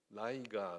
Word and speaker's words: ライガー: 子なのでライガーと読みますライオンのライとタイガーのガーですねライガーあのあそう